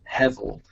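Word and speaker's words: hebel: um spelled h-e-b-e-l but that b is pronounced with a v as in victor uh so it's heavel uh and one of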